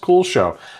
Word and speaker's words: Kuxiu: Yes, Kuxiu is pronounced Kuxiu.